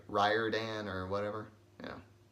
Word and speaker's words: Riordan: Rick Riordan I think I used to say Riordan but then I heard him once say that it's like Ryder Dan or whatever yeah like like he knows how